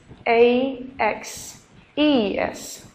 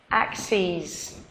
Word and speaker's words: axes: it would be AES a x e s axes and the pronunciation is different also axes okay so we here